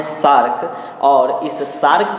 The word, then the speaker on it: SAARC: इसके स्थान पर हिंदी में इस सार्क का प्रोनाउंसिएशन जो होता है सार्क, यही आपसे पूछा जा सकता है। तो एक तो ये रखिएगा ध्यान, शार्क को हिंदी में सार्क पूछेगा, इंग्लिश में इस तरह का पूछेगा।